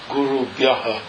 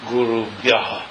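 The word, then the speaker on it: गुरुभ्यः: it's Guru Bhyas, and S in the final position changes to what's called Visarga, which is an H with a dot under it, which is pronounced Guru Bhyaha, the way you say it.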